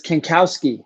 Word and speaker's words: Kankowski: And Paul, it's Kankowski, right? Did I say it right? Yep, you said it right.